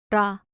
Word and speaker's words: 라: Attention sur la romanisation, c'est un R, mais ils n'ont pas le son R comme nous et ça se rapproche plus d'un L. 라, Ha.